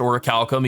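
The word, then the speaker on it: Orichalcum: I have looked it up and it is pronounced or a Calcom even though it's spelled or a chalum uh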